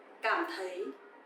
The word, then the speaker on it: cảm thấy: So here you will see the letter C. You will pronounce like letter K in English, and TH you will pronounce like th. Th.